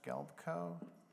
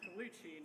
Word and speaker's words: Colucci: Next is Gelbko, if I pronounced that right, followed by Mary Rivers. Galfico? No, I'm Colucci, not Galfico.